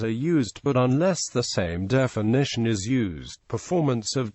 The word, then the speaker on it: SAM: Anti-aircraft missiles are variously called surface-to-air missile, abbreviated and pronounced SAM, and surface-to-air guided weapon.